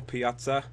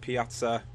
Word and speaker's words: Pjaca: So we signed Marko Pjaca. I finally learned how to pronounce his name, the 21-year-old Croatian from Juventus, for $5 million plus Jermaine Defoe.